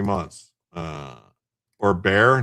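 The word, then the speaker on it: Bexar: They pronounce it bear.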